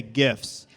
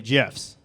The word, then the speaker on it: GIF: How many of you all think we should say gifts with a hard G? Yeah? Okay. How many think we should follow the creator of gifts and say it with a soft G and say GIFs?